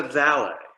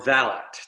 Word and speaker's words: valet: Jeeves is a valet, or valet, depending on how you want to pronounce it.